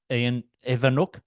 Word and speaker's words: Ewoniuk: and in this podcast I talked to Evano and it's spelled e w n i UK so that's why I sort of paus for a moment but Evano is how you pronounce it and he's from a wonderful business